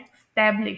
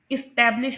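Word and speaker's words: establish: फिर उसके बाद यहां पर इसे लोग प्रोनाउंस करते हैं इस्टैब्लिश। इस्टैब्लिश लेकिन इसे जो है ना एस्टैब्लिश प्रोनाउंस करते हैं। यहां पर इ की साउंड आएगी।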